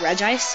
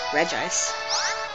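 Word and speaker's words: Regice: all them was re I I think that's how you pronounce it reg ice cuz that's how it looks re ice and I like re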